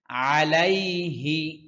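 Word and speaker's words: عليه: ছোট করে পড়ছি আমি আলাইহি আইনের উচ্চারণ স্পষ্ট করতে হবে কণ্ঠনালীর মধ্যখান থেকে আইন উচ্চারিত হয় অনেকে বলে আলাইহি সম্পূর্ণ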